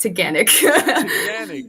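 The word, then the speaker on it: Taughannock: of why this is in this list um teganic is one of ithaca's many waterfalls yeah it's spelt weird i'll put it in the chat but it's pronounced technic nice okay and then as you go i'll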